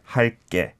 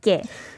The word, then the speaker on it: 할게: So the spelling, though, is a single 기억. Mm-hmm. There aren't many exceptions in Hangul where you read it differently to how it should be pronounced. Like English, there's so many exceptions, right? But in Korean, you should thank your lucky stars that there's not too many. This is one of the few. 할게. 할게 is yes. the right pronunciation.